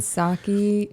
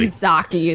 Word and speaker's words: Psaki: Psaki, she's an idiot.